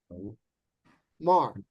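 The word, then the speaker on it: יאמר: Yo, Yo. Mar. Yomar. So, Yomar means he will say. And you've got this aleph with absolutely no vowel. It's a silent letter, no vowel. It's basically a placeholder.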